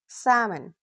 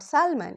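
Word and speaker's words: salmon: Half, काम, talk, walk, should, Chak, सैमन। तो pronunciation किस तरह से होता है? स्पेलिंग लिखी जाती है एस ए एल एम ओ एन लेकिन एल प्रोनाउंस नहीं किया जाता इट्स नॉट सैलमन इट्स सामन ऐसे ही टी ए एल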